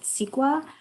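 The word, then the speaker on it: CEQA: california environmental quality act while it's spelled c-e-q-a everyone calls it sequa and it discloses the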